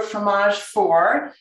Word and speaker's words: fromage fort: first recipe is for fromage four this is what you've got and i know it looks like fromage fort but the t is is silent and this is a